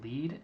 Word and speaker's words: lede: to journalism school and we called this the lead and we spelled it really goofy and I'm sure there's like a history to why it's spelled led II and you guys can